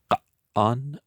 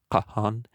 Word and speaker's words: Kagan: This title, signifying great Khan or emperor, was and is pronounced more softly by the Chinese and Persians and appears in their written records as Ka'an or Kahan and Han.